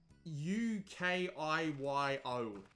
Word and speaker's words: Ukiyo: on the way and I know it sounds like I'm saying Yu-Gi-Oh but seriously it's u k i yo like how else am I supposed to pronounce it that doesn't sound like Yu-Gi-Oh but yeah so we